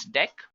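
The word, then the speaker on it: deque: is actually dead guys it is written as DQ but we can pronounce this as deck not talking about deck what actually it is used for so deck pronounced as deck is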